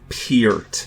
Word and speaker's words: Peart: It's Peart, and I am going to direct people to